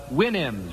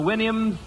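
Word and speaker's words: Houyhnhnm: mythical kingdom was the winam remember the winam to sound to pronounce supposed to pronounce it like you do a horse's Winnie I think okay here's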